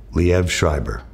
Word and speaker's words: Liev Schreiber: That's how you pronounce it, Liev Schreiber.